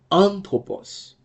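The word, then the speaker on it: ἄνθρωπος: you can see here that's why I said anthropos because an is the accented syllable but on top okay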